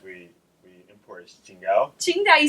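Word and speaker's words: Tsingtao: of the beers we we import is chinga chinga you said it right good job and so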